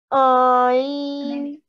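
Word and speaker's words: ع: Ayn. It is ayn, but it carries a vertical fatha. So how would you pronounce it? That's it. And from your throat.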